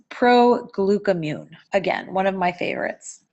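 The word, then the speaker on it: Proglucamune: difficult thing about this product is how to pronounce it so it's pro Glueck immune again one of my favorites moving on let's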